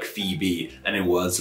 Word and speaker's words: Phoebe: for some reason though it's safe to assume that the ancient romans would have pronounced phoebe and phoenix like voynich and foy b though for sure we